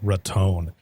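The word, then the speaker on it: Raton: they said they're like make sure you say ratton I just like to call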